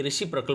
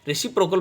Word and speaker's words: reciprocal: रेसिप्रोकल pronoun का जो होता है, कुछ स्टूडेंट्स जो है गलत उच्चारण करते हैं, तो वो रेसिप्रोकल की जगह रेसिप्रोकल पढ़ते हैं। तो ये प्रोकल नहीं है बल्कि प्रकल है।